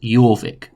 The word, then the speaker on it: Jorvik: looks like jorvik but we pronounce the j like a year so we're going to call it jorvik what was found at